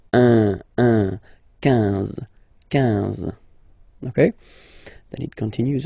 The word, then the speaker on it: quinze: Same thing here, U doesn't exist, so quinze, quinze, quinze, all right? IN, nasal, so it's un, quinze, quinze, okay?